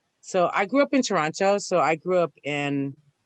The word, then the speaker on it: Toronto: next to chinatown in toronto um excuse me toronto toronto got to get the pronunciation right yeah well if i'm